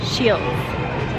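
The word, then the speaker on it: Scheels: So we just came into a store called Shields. I think I'm saying it right. Shields. Shields? No D? No D. Shields.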